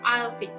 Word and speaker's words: aisle: Okay, we call it as aisle seats. Okay, how to pronounce it? Aisle seats. You just ignore, you just silent the word S here.